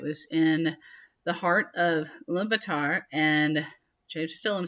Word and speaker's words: Ulaanbaatar: in the heart of Ulaanbaatar, and I still am saying I'm emphasizing things wrong, just so you know. I think I need to shorten the last syllable if I was saying correctly.